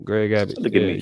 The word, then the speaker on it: Greg Abbott: They That's need to, one of the few things that you actually pronounced correctly, Greg Abbott.